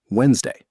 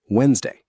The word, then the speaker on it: Wednesday: Wednesday. Wednesday. Sounds like Wednesday. 2 syllables only. Tip: the D in the middle is completely silent.